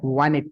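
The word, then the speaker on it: wanted: रहा है, लेकिन हम बोलते हैं तो इसको साइलेंट कर देते हैं। आई वांटेड टू, T usually, बहुत सारे शब्द हैं वो भी मैं आपको लॉजिक बताता चला जाऊंगा।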